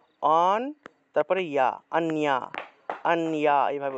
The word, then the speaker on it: অন্য: অন্না থাকলে উচ্চারণটা হবে অন্যা, অন, তারপরে ইয়া, অন্যা, অন্যা, এইভাবে উচ্চারণটা হবে।